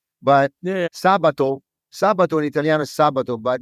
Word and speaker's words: Sabato: you can see there's there's an accent on the second a because it's pronounced Sabato it's not you know like Saturday right but Sabato Sab in italio sabat